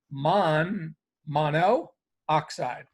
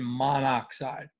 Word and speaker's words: monoxide: always ends in i so mon mono oxide carbon monoxide um better pronounced as carbon monoxide so typically what happens